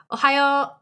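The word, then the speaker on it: おはよう: japanese because it is ohio just drag out the o at the end and you are saying good morning in japanese shannon you want to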